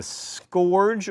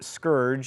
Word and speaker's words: scourge: have been sent as a scorge or Scourge as it is apparently properly pronounced what I'm from Alabama